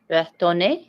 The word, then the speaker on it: retourner: Or don't try the R that hard. How would you say it? Retourner. Yeah, I know what you're saying. Retourner. Don't pronounce the R? No, like don't try so hard on the R.